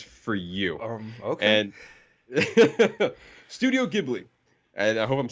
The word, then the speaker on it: Ghibli: Away my neighbor tat Toro and Ponyo it's Ghibli you said it right okay Ghibli um my